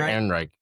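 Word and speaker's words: Ehrenreich: Aaron Rick. Thank you, Aaron Reich.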